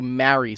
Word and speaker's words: marry: the greeting for Christmas are pronounced all exactly the same. Mary, Mary, and Mary. But I pronounce all three differently. Jesus' mother's Mary. It's Merry Christmas, and you marry someone you love.